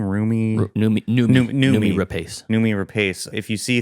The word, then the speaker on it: Noomi Rapace: Noomi Rapace.